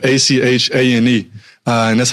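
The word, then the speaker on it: Etienne: They were calling him ATN at Clemson, but it's Travis Achan Jr.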